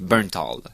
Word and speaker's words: Bernthal: John Bernthal, ça se prononce d'une façon que j'ai ratée. Bernthal. Ok, Bernthal, le voilà.